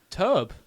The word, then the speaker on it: Tobe: Toby Hopper? I don't know how to spell that. Yeah, Tobe. It's Tobe.